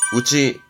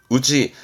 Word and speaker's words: 内: 안을 의미할 때 발음은 우치, 우치.